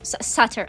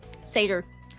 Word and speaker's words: satyr: Satire. I always say satire. Satyr. Satyr. See you later, Satyr. How do y'all pronounce Satyr or whatever? I always say it wrong because I'm country.